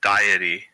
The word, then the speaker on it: Deity: putting the die in Deity, because that's how you say it.